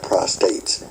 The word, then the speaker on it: prostate: Angels don't have prostates. They have prostrate, meaning falling out in front of God and things like this. And so, just to get that pronunciation, Moms Maverly brought that out about a prostate and what it's all about.